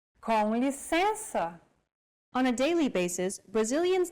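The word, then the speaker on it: com licença: nasal cavity and out through the nose imagine you're humming with your mouth open and add the E vowel sound to it and now you try and again and all together it's Conley sensor on a daily basis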